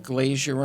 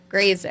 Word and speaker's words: Grazer: So anyway, then Sam went to Imagine Entertainment and with Brian Glazier and Ron Howard from Happy Days. How do you say it? Grazer.